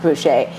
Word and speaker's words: Boucher: her poodle brooch it was a voucher voucher Boucher roach that's spelled like Badger but it's pronounced Boucher and I fell in love with that little